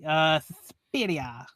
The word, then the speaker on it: Suspiria: I always love saying it that way. Suspiria. I think that's the proper Italian pronunciation.